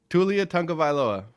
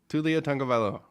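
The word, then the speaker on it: Taulia Tagovailoa: Tulia Tagovailoa. Tulia Tagovailoa.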